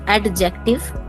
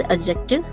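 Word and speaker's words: adjective: एडजेक्टिव इट इज नॉट एडजेक्टिव इट इज़ एडजेक्टिव D should be silent conjunction इंटरजंक्शन anything else ma'am एक छूट गया है।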